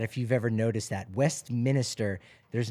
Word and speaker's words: Westminster: it's right here it's Westminster not Westminster it's not Minister oh no Minster oh wow a lot